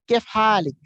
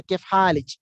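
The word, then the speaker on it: كيف حالِك: you have to say Kef Halik. Kef Halik. Okay, Kef Halik. In Imarat, you will hear they will say kif halij. Means instead of ik they say ich.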